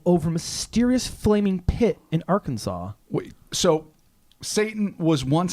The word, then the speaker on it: Arkansas: it's not say Tana I almost pronounced Arkansas Arkansas we often do I don't know why because it's spelled Arkansas and I had a